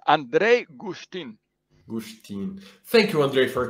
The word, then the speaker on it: Andrej Guštin: Today I have a friend from Slovenia, my friend Andrej Guštin. How do I pronounce her name? You just teach me a second ago. Yeah, it's Andrej Guštin.